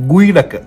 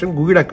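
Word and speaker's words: geoduck: We are going to make Gwydak. It's pronounced as Gyo-dak.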